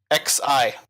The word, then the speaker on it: XI: XI is what it is. I don't even know what it is. I've never heard of it. Huh. Yeah, I don't know what that is. Pronounced Xi in Japan.